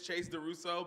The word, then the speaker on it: Chase Duso: It is Chase Duso, but when I'm drinking red wine, I like to pronounce it chaz.